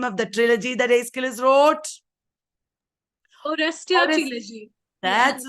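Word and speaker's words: Aeschylus: it is not idus it is not sopas it is aillis the father of tragedy aillis Anita what is the name of the trilogy that aillis wrote that's right uh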